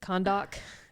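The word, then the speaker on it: Kahndaq: Kondak is how they say it.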